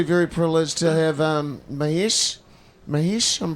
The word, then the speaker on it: Mahesh: Mahesh, I'm pronouncing that correctly?